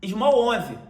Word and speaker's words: SMLL11: Small 11. E repara que, embora eu tenha pronunciado Small, o ticker dele é sem o A, é apenas SMLL11. E ele replica as 74